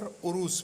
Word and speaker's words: عروس: نام ہے سرگزشت عروس۔ یہ لفظ عروس بھی تلفظ ٹھیک ہے اس کا، اور عروس بھی، جس کے معنی ہے